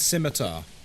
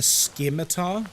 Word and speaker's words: scimitar: Or I've heard you know someone mentioned scimitar. I've heard people call it a skiar before or a sky meter.